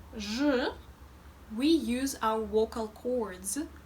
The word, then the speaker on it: Ж: First of all, you might have noticed that when pronouncing zh, especially Russian zh, unlike English, our lips are more rounded, as if they were ready to give someone a kiss.